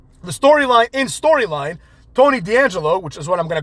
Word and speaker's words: D'Angelo: If he's an Italian, then he would know that the correct pronunciation is D'Angelo, right? You don't just pronounce the D separately and then say whatever's after the apostrophe.